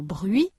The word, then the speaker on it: bruit: 495 activation orale prononciation la semi-voyelle u révision pour prononcer le son u comme dans bruit et lui.